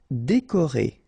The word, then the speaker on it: décoré: Décoré. Okay, so E accent aigu, E accent aigu, E, décoré.